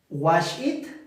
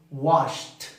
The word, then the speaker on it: washed: No decimos wash it. No decimos wash it. Decimos washed. Washed. Washed.